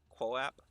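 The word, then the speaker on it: QooApp: All right, well, you have the how does one even pronounce that really? Like Quo app, the QOO 00, not zeros, they're O's.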